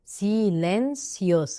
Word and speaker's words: silencioso: silencioso silencioso silencioso. يبقى احنا كده احنا ما خدناش الحروف بس عرفنا كده من نظرتنا ان الاي بتنطق اي برضو. silencioso مش زو، لا سو.